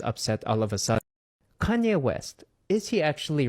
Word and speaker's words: Kanye: I used to pronounce his name Kane because I'm a little dyslexic and that's how I read it.